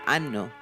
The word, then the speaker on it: hanno: The H in o, I, a, and anno is silent.